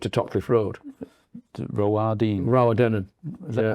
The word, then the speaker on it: Rowardennan: Rowardennan. Is that how you pronounce it?